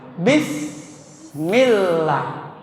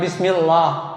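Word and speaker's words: بسم الله: Bismillah ya. Sin itu adalah huruf hams. Dan ini ketika mengucapkannya harus terdengar desisan.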